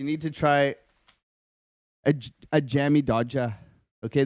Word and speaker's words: Jammy Dodger: to try a a Jammy doer okay this is a Jammy DOA you got to say it like that too this is a a